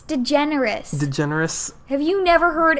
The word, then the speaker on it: DeGeneres: how is it pronounced I don't know it's pronounced you're totally watching this it's DeGeneres DeGeneres have you never heard anyone say Ellen